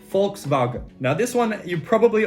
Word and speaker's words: Volkswagen: volkswagen is actually pronounced volkswagen now this one you probably already knew because volkswagen make a lot of tv commercials volkswagen das auto it is volkswagen with an f volkswagen wagon i'm no